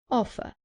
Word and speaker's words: offer: Offer. Remember that in British English, the R at the end is not pronounced.